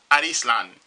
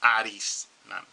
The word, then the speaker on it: Arslan: They pronounce it, it's like this. In the old anime, they used to call it Arislan. Arislan. I don't know why, but, you know, that's pronunciation. So we got Arislan or Arslan. But I'll probably call it Arislan. Japanese pronunciation would be Arislan.